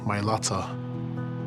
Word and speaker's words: Mailata: they're representing our family named them mylata that's the correct way to say guys my latter on the back of